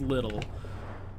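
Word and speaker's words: Liddell: this family, the Little, I think it's Little, you know, it's spelled Liddle.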